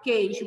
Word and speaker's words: queijo: Queijo tem. Por quê? Você não fala queijo. Você fala queijo. Você não pronuncia a letra U.